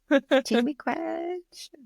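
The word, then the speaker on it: Chi-miigwech: Chimigwech.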